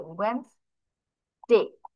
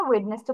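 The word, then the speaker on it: Wednesday: তাহলে তোমরা স্পেলিং এর সুবিধার্থে, বানান করার সুবিধার্থে মনে মনে ওয়েডনেসডে বলতে পারো, মনে মনে, আর জোরে না, জোরে বলে কি বলবে, ওয়েনসডে বলবে অলওয়েজ।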